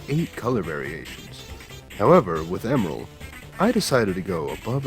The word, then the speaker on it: Emerl: to draw more portraits you may notice how i'm pronouncing their names right emerald and g-mural this surprisingly is the correct way each is pronounced as the japanese names emeru and jimaru seem to line up though if you pronounce them like emerol or gemmarole i won't tell anybody as one is built